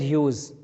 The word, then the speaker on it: Hughes: Class 11th NCERT board के अगली poem है द लेबर्नम टॉप और इसके पोएट हैं टेड ह्यूज। इनका उच्चारण देखो, स्पेलिंग तो HUGES है, लेकिन पढ़ेंगे टेड ह्यूज।